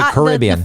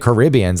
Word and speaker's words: Caribbean: But like Caribbean's actually Caribbean. It should be pronounced Caribbean because the native people of the land, which I wish I could, were Caribs, I think.